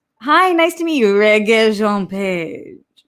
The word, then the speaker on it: Rege-Jean Page: Roxy, it's Rege-Jean Page. Just so she knows. I want to help her out. Okay, I gotta listen again. Roxy, it's Rege-Jean Page.